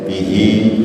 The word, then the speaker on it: بِهِ: Bihi nya panjang.